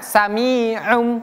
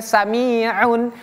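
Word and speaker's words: سَمِيعٌ بَصِيرٌ: Bacanya samium bukan samiun atau sami tapi samium. Pakai m pakai mim.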